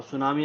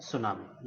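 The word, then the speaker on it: tsunami: प्रकार से सुनामी और सुनामी आप लिखते हैं टी साइलेंट हुआ करता है टी एस यू एन ए एम ए सुनामी यह भी हो सकता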